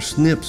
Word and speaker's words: SNP: abbreviated to the acronym SNP which is pronounced snip a single nucleotide polymorphism